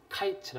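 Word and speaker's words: קַיִץ: 맞는 거 같은데 예 이게 이제 히브리어로 어 여름 과일이 카이츠 합니다 카이츠 근데 끝이 캐치해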